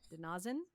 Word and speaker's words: De-Na-Zin: the oh my gosh it's the name and the pronunciation is denazen denin Arch yeah um